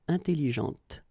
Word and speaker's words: intelligente: with an adjective, okay, intelligente. Same thing here. When you put this well, actually you will pronounce the final T, okay, but you don't pronounce this here. Intelligente.